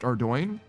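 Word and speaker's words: Ardougne: I think officially, yes, it's pronounced Ardoin, but I'll say Ardugum.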